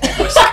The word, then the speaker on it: Whisk: Is that right? The H is silent?